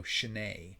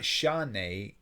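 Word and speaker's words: שְׁנֵי: So this will be the letter shin with the shva, and then the nun with the tseri and a yud. So shnei. So it's not shanei, and it's really not shnei.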